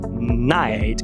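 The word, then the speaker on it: knight: Com KN, cavaleiro, que é night.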